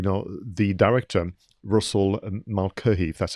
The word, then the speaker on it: Mulcahy: but also you know the director russell and malcolm that's how you pronounce his name this was his second feature